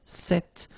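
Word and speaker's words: cette: is set like that so it's quite interesting because if you listen carefully the masculine form here set and The Feminine form here set you write them differently but then you pronounce them the same way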